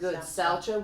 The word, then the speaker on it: Saucha: Nope, that's how I heard it pronounced. Good. Saucha, which means purity.